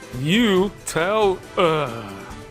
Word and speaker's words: Nutella: You know, I actually just googled that, and it's supposed to be pronounced New-tel.